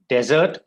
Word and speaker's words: desert: however when you read it it's understandable so desert the second one rajasthan desert right desert region and would you like to have a